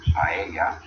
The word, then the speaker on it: paella: You pronounce it somewhat like a Y, depending on what country you're from and everything. At least here in Spain. It's like when people normally pronounce the word paella, a lot of English will pronounce it paella.